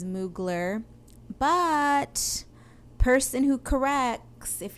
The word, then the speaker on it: Mugler: unquote correct my pronunciation it is not mugly and i know that it is mugler but person who corrects